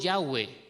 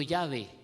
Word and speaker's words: Yahweh: Por eso nosotros decimos Yahweh y no Yahvé.